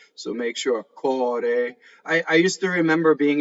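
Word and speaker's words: core: Dal cɔre, cɔre, heart, right? Americans especially tend to close this, and it sounds like the word, I don't want to really say it, but it sounds like a part of the anatomy that's behind you, right? If you close it too much.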